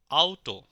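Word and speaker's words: Auto: শব্দ দেখি hello hello আউটো যুক্তবর্ণ আও আউটো তিশ টিশ এবার আপনারা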